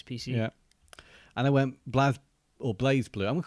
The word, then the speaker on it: BlazBlue: Blaze Blue because it is Blaze Blue, not Blaze Blue, isn't it? Even though I haven't got an E. I think it's Blaz. Is it Blaz? I think it's Blaz. I think we've been saying it wrong this entire time. Okay, we'll call it Blaz Blue.